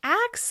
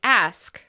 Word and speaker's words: ask: That's another reason why it may simply be more efficient to say "ax" instead of ask.